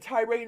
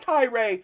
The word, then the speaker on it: Tyre: Tyree Nichols? It's Tyre. It's Tyre. It's not Tyree.